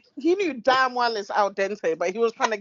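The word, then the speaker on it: al dente: was she or he said that it was alad Dente or he said it he said it was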